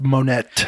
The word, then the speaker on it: Monet: just last weekend last weekend and caught the Monet exhibit and it's the later he always it's pronounced monette it cloudy Monett and so it's the later